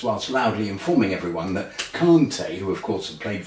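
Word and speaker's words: Kanté: the way it's pronounced Conte as if there's an R in it I sit in an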